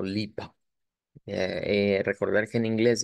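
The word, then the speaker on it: Lippe: una e y eh debo de pronunciarlo como lipa eh recordar que en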